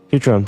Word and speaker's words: Futurum: That's the name of the planet. That's how it sounded pronounced in their local tongue anyways. Futurum, the name of the planet.